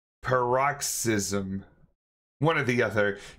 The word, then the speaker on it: paroxysm: it's I always up this pronunciation par roxism paroxysm one of the other p a r o